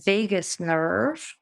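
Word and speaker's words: vagus: is based in the Vegas nerve I always want to say Vegas baby like Las Vegas but it's not spelled the same way but it's easy to remember that way that we have a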